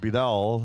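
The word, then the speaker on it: Beadell: very smart last time b-e-a-d-e-l-l I assume it's pronounced bidal and uh she nickname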